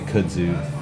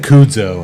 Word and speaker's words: kudzu: How do you say kudzu? Do you know what kudzu is? Yes. Oh, of course you do. I said kudzo, I think, when he first gave it to me.